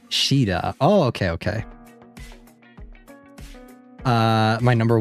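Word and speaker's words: Caeda: You pronounce it like Shida.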